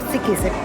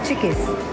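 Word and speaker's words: Çıkış: यहाँ पर chikoo CIKIS, नॉट सिकिस, चिकिस, they pronounce चिकिस।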